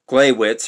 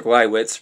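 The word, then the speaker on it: Gleiwitz: stormed the clay glywitz that's spelled g-l-e-i-w-i-t-z glaywitz or glywitz radio tower on the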